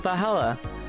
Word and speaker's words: VA-11 Hall-A: The name sounds silly and a bit hard to pronounce. Good thing it's actually called Vala. The funny numbers and letters are just a code.